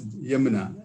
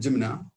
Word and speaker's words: Yamuna: I don't know how to how to pronounce Yamuna. Actually, in Malayalam, Yamuna, but the written word Jimna.